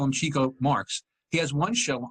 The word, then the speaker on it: Chico: It's pronounced Chico.